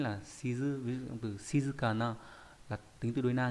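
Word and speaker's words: 静かな: Ví dụ từ shizukana là tính từ đối na nghĩa là yên tĩnh.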